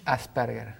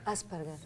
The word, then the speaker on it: Asperger: ¿Cómo se pronuncia? Asperger. Asperger.